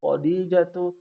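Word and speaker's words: خديجة: n kepada ibu dede Perhatikan cara bacanya jangan mentang-mentang hodi jatuh ada ya nya ya Khodijah ingat toknya dia panjang Khodijah adalah pelajar yang lama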